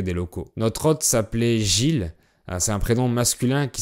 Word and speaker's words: Gilles: Notre hôte s'appelait Gilles. C'est un prénom masculin qui s'écrit G-I-L-L-E-S. Mais en fait, la deuxième moitié du mot se prononce pas.